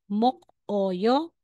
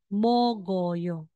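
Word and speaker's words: 목요: sa middle position na Instead na sasabihin mong mok Oyo magiging mogyo okay mogoo Ito po sila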